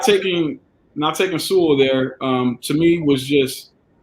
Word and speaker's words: Sewell: The Bengals, obviously, not taking how Jerome loves to pronounce it, SeaWorld. Not taking Sewell there.